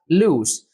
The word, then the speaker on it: loose: pronounced As lose and the second word is pronounced as loose so read the sentence carefully and choose the